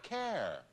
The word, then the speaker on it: care: There are two different sounds. Now, yes. H-A-I-R-Y. Now go outside and park your care. But it's a regional thing. It's a carrot A. And the difference between a carrot A and a half-long A is only that much, but...